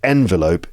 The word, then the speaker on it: envelope: is the noun but you can see there's a difference in word stress envelop envelop that's three syllables stress on the second syllable he was enveloped and envelope the noun the stress is on the first syllable also enveloped this is